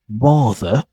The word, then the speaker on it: rather: sound elegant is that we don't pronounce the letter R at the end of the words unless it's followed by a vow letter or vow words. Let's say for example in a words like rather for example it sounds like rather water and even daughter father sister. If you've noticed I don't pronounce the letter R because it's followed by it doesn't follow by a vowel.